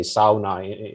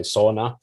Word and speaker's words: sauna: I mean, in Finnish, we say sauna. In a lot of international circles, people say sauna.